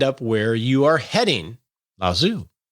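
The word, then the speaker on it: Lao Tzu: where you are heading la zoo that's how you pronounce this name the probably not the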